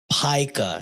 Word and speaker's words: pica: There's a whole Pika snacks. Pica is how you pronounce it.